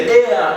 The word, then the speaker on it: heir: say our hour then here she is the heir to the throne then your corner on then